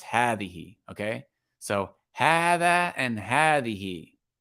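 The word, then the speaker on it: هذه: But it's pronounced hada, and this word is pronounced hadihi, okay?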